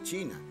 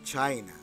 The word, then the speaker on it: China: Entonces, si ustedes tienen una I, como en este caso I, ok, entonces aquí es China, no se dice China, se dice China, China, China, ok, China,